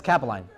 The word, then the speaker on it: Capeline: But it's Capeline. That's the proper pronunciation.